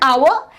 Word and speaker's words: hour: is bread as an hour and hence the H is silent and therefore we put